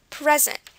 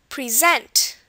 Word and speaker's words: present: when I say present I'm putting stress on the pre right here pre present and that means a